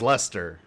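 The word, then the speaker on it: Leicester: but it is to be pronounced and usually pronounced in Britain as gler yay I got it right and then this one is Lester we are looking at how to l e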